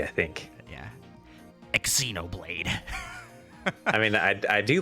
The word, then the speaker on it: Xenoblade: Xenoblade how do you should I pronounce the X in in Xenoblade you just pronounce it like a z I think yeah Xenoblade I mean I I